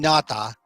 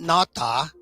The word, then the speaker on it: Nauta: you say his name everyone's saying nata not natta I guess it could be NATA but I look at Walt NATA his name in I kind of I I make it just slightly more authentic I think by saying naota because that would be